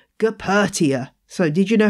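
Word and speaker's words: Goeppertia: Calathea, most of the species in this genus have been moved to another genus called Gepertia. So did you know how to spell that?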